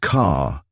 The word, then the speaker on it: Kerr: She spoke of her surname as Kerr, but she pronounced it car, as in motor car. Now, I submit that anybody hearing that surname and having no knowledge of the spelling would ordinarily assume it to be car.